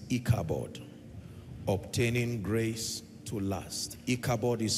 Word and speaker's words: Ichabod: Ichabod is spelled I-C-H-A-B-O-D.